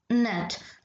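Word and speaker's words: gnat: तो ये हो जाएगा माइन च letter is silent in the world नेट तो यहां पर हो जाएगा जी क्योंकि मैंने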